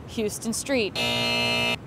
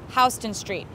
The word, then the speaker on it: Houston Street: see the sign you'll think Oh Houston Texas Houston Street incorrect Houston Street and you'll hear people refer to NoHo or